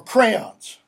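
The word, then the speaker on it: Creon: Or crayons? If you want to pronounce it crayon, you can, but it should be crayon.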